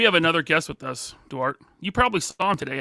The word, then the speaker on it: Duarte: actually my middle name so in Portuguese it's pronounced Dart so it sounds like Dart but all the homies and growing up it was dwarte so it's stuck it's been that way it actually started as dwarte before the actual proper pronunciation so it goes both ways no Diddy so you